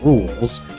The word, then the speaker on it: Rouxls: First off, it's pronounced Rouxls, a recreation of Rouxls Kaard's boss fight from Chapter 2.